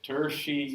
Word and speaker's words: tertiary: you say this word it's like Hershey with the theme from tertiary tertiary tertiary education standard